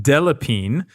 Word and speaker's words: Delépine: Now, instead of Adam Bree, we've got Delépine, 3 syllables in that last name.